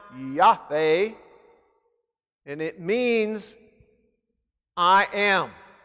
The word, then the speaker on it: Yahweh: That is the Hebrew word spelled YHWH in English, using English lettering. It is pronounced Yahweh, and it means I am.